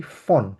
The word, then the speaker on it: von: ein Buch, আমি একটা বই পড়ছি ফন, এটা বন না, ও কারণ সরি সরি, ফন।